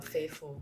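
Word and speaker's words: Favful: called fful faithful how do you spell it pronounce it f a v f u l faithful yeah faithful yes okay faithful so I realized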